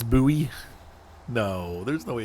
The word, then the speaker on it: Bowie: Like Bowie. That's how we would say it. Like David Bowie. But you could also say Bowie. To me, Bowie makes the most sense, and that is how David Bowie's name is spelled.